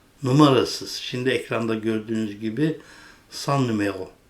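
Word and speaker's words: Cent: ekranda gördüğünüz sunan numero değişik yazılıyor c e n t San okunuşu aynı sano C NT cevizli Edirne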